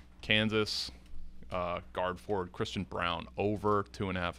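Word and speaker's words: Braun: they're averaging 26.7 what's the guy's name Christian Brown it's spelled like Brun Kansas guard 66 218 plays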